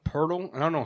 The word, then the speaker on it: Poeltl: It's actually pronounced Pirtle.